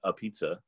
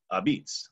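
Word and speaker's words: apizza: it says compisanos and that's not pronounced a pizza it's abeetz another new haven colloquial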